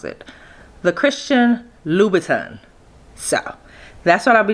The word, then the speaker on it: Christian Louboutin: And today I'm going to be doing the Christian, I finally figured out how to pronounce it. The Christian Louboutin.